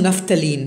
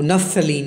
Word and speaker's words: نفتالين: او كون خلي بالك ده اسمه نفتالين او نافلين ينفع تنطق الاتنين ولا مش فلاح طيب